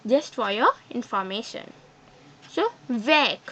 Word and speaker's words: vert: So, vec. Here, T is not pronounced. But in feminine, vect. Here, the whole word is pronounced.